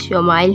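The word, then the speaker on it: ישמעאל: خوشخبری سنا دی گئی۔ عبرانی زبان میں اسماعیل کا تلفظ شمائل ہے۔ شوما کا معنی سن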